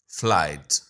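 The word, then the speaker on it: flight: फ्लाइट again यह जी एच जो है यह साइलेंट है।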